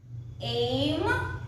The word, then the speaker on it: aiment: And then no, aim, O-N-S, aimo, A-I-M-E-Z, aime, A-I-M-E-N-T, but you pronounce it as aim, A-I-M-E-N-T.